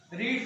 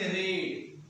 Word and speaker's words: read: रीड का यहाँ पे हम लोग पढ़ेंगे रेड। क्या पढ़ेंगे? रेड। स्पेलिंग वही है लेकिन पढ़ेंगे रेड।